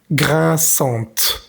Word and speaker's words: grinçante: Al ponerle la E, pues tenemos que pronunciar la T. Grinçante.